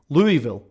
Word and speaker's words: Louisville: I said that's so weird. Louisville. That's how you say it.